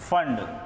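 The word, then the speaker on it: Planck: scientists का name है इसमें पीस साइलेंट होता है बच्चों की फ्रंट मत बोलना है इसको इसको हम लोग फंड बोलते हैं स्पेलिंग होती है पीएसयू एंड जिसमें पी क्या होता है साइलेंट होता है अच्छा इंपोर्टेंट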